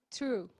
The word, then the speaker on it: true: True. Isso, esse tem som de T.